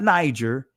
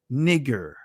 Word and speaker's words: Niger: this word here is, not Niger, it's actually nigger or nigger. That's the proper pronunciation of it.